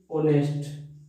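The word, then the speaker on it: honest: जैसे देखो सच कहूं तो इसको मैं लिखने की कोशिश करूं एज a phrase to बी ऑनेस्ट। अब इसको क्या पढ़ेंगे, ओ पढ़ेंगे, एच इसमें रहता है साइलेंट।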